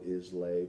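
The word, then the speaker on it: Islay: the last one which is um Isla scotches it's spelled is Lay but it's pronounced Isla and those are the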